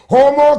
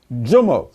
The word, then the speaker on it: Jomo: This is Homo That's how you pronounce it? Jomo.